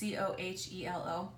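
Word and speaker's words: Coelho: It's Cohelo.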